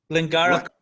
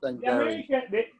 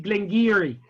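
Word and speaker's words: Glen Garioch: Glengarioch. Yes. Oh, it sounds very well. Isn't that beautiful? No, Jose, you know it's pronounced Glengarry. The Scottish say it Glengarry.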